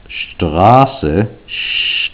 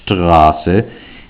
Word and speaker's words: Straße: It has ST, and it's not just pronounced st, it's pronounced Straße, Straße, and it has this